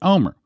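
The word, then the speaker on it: Olmert: a RT o L M ERT but you pronounce it Omer well of course anywhere 22 of 2006 this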